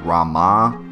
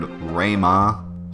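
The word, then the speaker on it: Ramuh: and by the way I've heard a lot of different pronunciations of ramu I've heard Rama I've heard RMA so you pronounce it the way you like to pronounce it I like ramu ramu Materia is located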